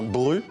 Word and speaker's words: Brut: Alors le grand accordéoniste Richard Galliano et à ses côtés le jeune Félicien Bru. Pas Brut, hein, ça s'écrit avec un T à la fin. On prononce pas le T.